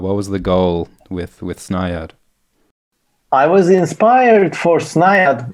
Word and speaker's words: Snaiad: Is that how you pronounce it? Mm-hmm. It's this... Yes, Snaiad.